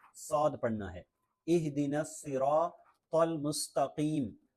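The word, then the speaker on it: المستقيم: پڑھنا ہے۔ اہدنا الصراط المستقیم، تو یہاں تو ہے، تا نہیں ہے، تو اس کا خیال رکھنا ہے کہ تا نہیں پڑھنا، تل مستقیم نہیں بلکہ تل مستقیم۔ مستقیم، صراط الذین انعمت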